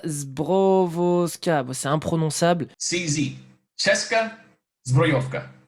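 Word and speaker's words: Česká zbrojovka: CZ, Cheska Zbrojovka, Cheska Zbrojovka, Cheska Zbrojovka. And that's how you pronounce CZ, but I can see why they call it CZ.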